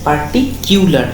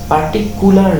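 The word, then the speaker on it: particular: পার্টিকুলার মানে হচ্ছে পার্টিকিউলার, এটার উচ্চারণ পার্টিকুলার নয়, অনেকেই পার্টিকুলার উচ্চারণ করে, কিউলার, পার্টিকিউলার, তার মানে নির্দিষ্ট করে।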